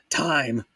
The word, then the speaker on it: thyme: Thyme. You got to put the pronunciation on the M.